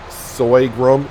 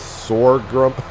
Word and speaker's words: sorghum: Yes, I've been pronouncing it soygrum. It's sorghum.